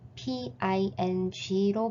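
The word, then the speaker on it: 瓶: 중국어로 꽃병의 병과 평안의 평이 모두 PING로 발음되어 꽃병은 평안을 의미한다고 합니다.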